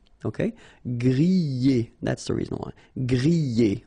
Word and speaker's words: griller: Remember, er, because these are verbs here. Griller, pocher, éplucher, okay? You pronounce them E, okay? Even if you've got this R, okay? This combination of 2 letters, R at the end, will give you the sound E.